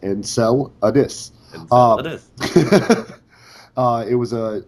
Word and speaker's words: Enceladus: pronounced kelgen um and my legacy name enceladus uh is pronounced and cell addis uh it was a